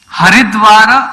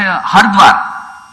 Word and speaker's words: Haridwar: say whether it is Haridwara or Haradwara. Yes, when you hear the pronunciation, some people say Hardwar and some people say Haridwar.